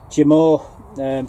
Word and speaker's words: Jermor: And like I say, these are called, pronounce it Jermor, French shallots.